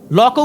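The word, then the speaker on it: Locke: তো আপনি এই সামান্য জিনিসটা পড়লেন না, সবাইকে হবস লক পড়তে বলেন, লকও উচ্চারণ করতে পারেন না উনি, লক্স বলেন। লক্স বলতে কেউ নাই পৃথিবীতে। লক আছেন, জন লক, একজন বিখ্যাত দার্শনিক।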